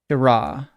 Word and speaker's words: Shirah: It's going to be pronounced a bit like this. Shirah.